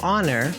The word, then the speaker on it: honor: elephant an honor because honor although it starts with H that H is silent so it makes the